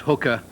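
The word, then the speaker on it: Haiqa: little bear flesh showing Jemima's new name will be hiker Khan pronounced hooker thank you Lads by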